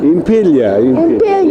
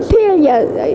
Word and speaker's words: Impiglia: Impiglia. Yes, that's the correct pronunciation. Impiglia.